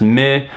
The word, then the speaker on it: MØ: some ikea furniture before her name is spelled mo with a little slash line through it so this would be pronounced with the end a nash at least where she's from with the sound do now this would result in her name being pronounced mid which isn't very natural